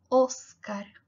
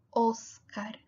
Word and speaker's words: Óscar: españa o óscar óscar aunque haya una tilde acá está tilde soy sólo indica que es una sílaba tónica entonces tienes que pronunciar la más fuerte que las demás pero la o siempre será grave entonces va a ser óscar óscar pérez la tilde también